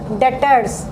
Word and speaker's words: debtors: पहला डेटर्स। देखिए यहाँ बी साइलेंट है, लिखते तो हैं DEBTORS बट इट is pronounced as डेटर। बी हमारा यहाँ पे साइलेंट है।